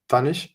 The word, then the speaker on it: Tannich: ask us today with me I have Tanish tan am I pronouncing it correctly hi yes it's